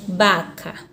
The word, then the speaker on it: vaca: eu tenho vaca na língua espanhola eu tenho baka baka porque o ver tem sempre som de